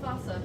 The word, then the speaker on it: fossa: be hunted by uh fossa out in the rainforest or foosa as some say different ways to pronounce it and that's that's like